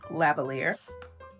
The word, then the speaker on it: lavalier: And if you didn't know, that's how you say it. Lavalier.